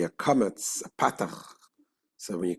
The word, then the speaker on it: kametz: They say both ah, but in the Ashkenazic pronunciation, kametz is o, patach is ah.